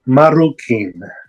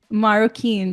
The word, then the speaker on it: Marroquin: so if you want to go ahead and pronounce it that would be awesome that's okay uh my name is marukin maroin that's great um we are so happy to